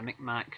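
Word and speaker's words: Mi'kmaq: Whether it's the, I don't know if I'm pronouncing this correctly, Micmac, is that the yep, correct pronunciation? Yeah, the Micmac, and then of course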